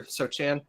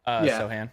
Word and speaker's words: Sochan: in year 2 is Sochan. Is that how you pronounce it, or Sochan? Sohan.